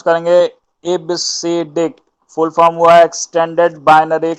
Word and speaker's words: EBCDIC: ठीक है, इसका प्रोनाउंस जो होता है वो इबसीडिक होता है।